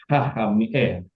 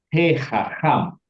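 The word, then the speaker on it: הֶחָכָם: Nah, karena dia ini gutural ketemu dengan gutural, maka he-nya hanya dibaca he. He haham. Karena gini, dari tadi kalau bacanya haham berat, maka diringankan dia, dibunyikan e.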